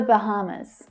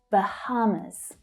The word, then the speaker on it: Bahamas: Usually said the Bahamas. So the stress is on the second syllable there. Bahamas.